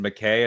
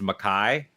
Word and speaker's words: McKay: name is not pronounced McKay it's pronounced Makai oh really and yeah because it it says the K is like kayak Kai Kai you've